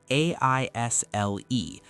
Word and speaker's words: aisle: It's spelled a i s l e, but the s is silent. So it sounds exactly like aisle.